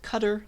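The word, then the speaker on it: cdr: You can get the first thing with car, get the rest of the list with cutter. That's how you pronounce it.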